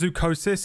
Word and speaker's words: Zoochosis: I'm especially not touching a game called Zoochosis. And deep down, you know this to be true. JJ, what's your favorite movie of all time? It's pronounced Zoochosis, actually.